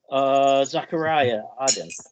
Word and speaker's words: Zachariah Aden: Zachariah Aden. Here. Did I pronounce that right?